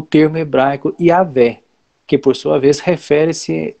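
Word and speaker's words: Yahweh: Esse Iá é Yavé, né?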